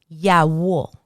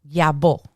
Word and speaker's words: Yawo: Yawo. Yawo. And in Spanish, I'm going to give you two pronunciations that you will hear. Yawo or yabo.